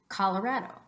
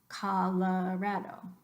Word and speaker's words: Colorado: for as ha Colorado the second Oh in English is gonna be pronounced like a schwa this up so kala